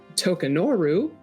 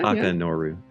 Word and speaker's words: Takanoru: I know that we are traveling to Tokanoru. Is that how you say it? Tokanoru? Yeah. Takanoru.